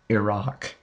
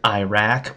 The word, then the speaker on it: Iraq: heard of this country in the news it's pronounced Iraq many Americans will try to pronounce it Iraq or Iraq but it's Iraq Iraq started out early on